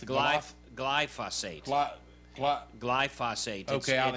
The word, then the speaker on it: glyphosate: Glyphosate. Glyphosate. Okay, I'll let it's you like say it. I'm not gonna try. It's like phos and phosphorus. Glyphosate.